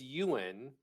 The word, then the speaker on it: Eoghan: It's Gaelic. It's Eoghan. It's pronounced Ewan, and it's Okay.